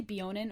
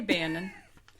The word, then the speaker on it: Beonin: be be do you say beonin or beonin I I always say be I would say Bonin yeah Bon I'm an